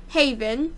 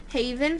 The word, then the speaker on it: Jevan: looked it up and Google Translate pronounced it Haven. So that's how I'm gonna say it.